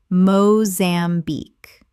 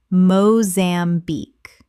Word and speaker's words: Mozambique: Common mispronunciation, Mozambique. Correct pronunciation, Mozambique. 3 syllables with the stress on the final syllable.